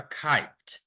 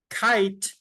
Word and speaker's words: kite: so this is a kite I see a kite kite has a silent E when we say or